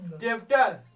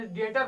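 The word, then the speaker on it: debtor: डेप्टर, डेप्टर नहीं पढ़ेंगे, डेटर पढ़ेंगे, क्योंकि ठीक है पहले भी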